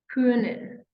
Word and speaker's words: können: Then we have können, können, können. So remember, this without umlaut would have been O, but now we're pronouncing it as Ö, Ö, hören, möchten, können, okay?